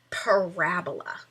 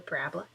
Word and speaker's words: parabola: curve is called a parabola parola not a parabola a parabola if you say Parabola you are putting the emphasis on the wrong cabable and that is not a good thing so it is a